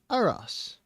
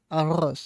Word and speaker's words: arroz: So if you're confused on how to pronounce rice, just remember Ross. Arroz. Arroz. And then just roll it.